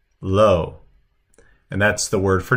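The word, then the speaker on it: לא: So the aleph is silent, so it's pronounced low, low.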